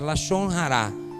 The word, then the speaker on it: Lashon Hará: Não sabemos a pronúncia, é Lashon Hará. Língua má. É com H-A, Hará.